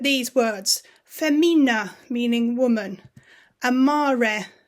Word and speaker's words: amare: Amare, to love. No A split E sounds like in English.